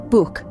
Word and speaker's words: Buch: Say ich, soft ch, and then Buch, hard ch.